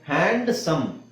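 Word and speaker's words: handsome: ಮಾಡಬೇಕು ಹ್ಯಾಂಡ್ kerchief ಅಂತ ಹೇಳಿದ ಹ್ಯಾಂಡ್ ಕರ್ಚೀಫ್ ಹಾಗೆ ಹ್ಯಾಂಡ್ಸಮ್ ಸುಂದರವಾಗಿದ್ದಾನೆ ಹುಡುಗ ಅಂತ ಹೇಳಿಕೆ ಹಿ ಇಸ್ ಎ ಹ್ಯಾಂಡ್ಸಮ್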